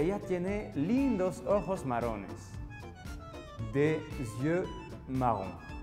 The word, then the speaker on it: des yeux: Des yeux marrons. Aquí tengan cuidado con la pronunciación que se dice des yeux.